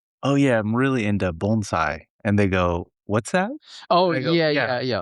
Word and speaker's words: bonsai: "Oh, we're doing bonesai." And she was like, "I think you're mispronouncing it. It's bonsai."